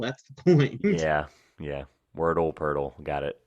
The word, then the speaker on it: Poeltl: Poeltl. It's because it rhymes with Wordle. That's the point. Yeah. Wordle, Poeltl.